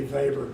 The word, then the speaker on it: Weber: One of the psychophysicists was a person whose last name was, I'm going to say Weber so you could spell it. In Germany it would be Weber, but it's W-E-B-E-R.